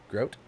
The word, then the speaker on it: Grote: do you pronounce it let me see it g-r-o-t-e groat yeah correct maybe that so this